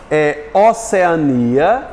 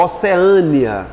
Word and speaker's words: Oceania: Eu posso pronunciar, ó, Oceania ou Oceânia. Tem diferença, quando tem acento ela muda.